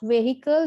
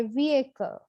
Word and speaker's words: vehicle: in the list is vehicle vehicle it's not vehicle the edge is silent we say vehicle so the stress is on the first syllable